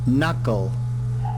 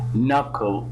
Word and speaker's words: knuckle: one check yeah listen knuckle knuckle you can find that the first K in here is silent knuckle knuckle and knuckle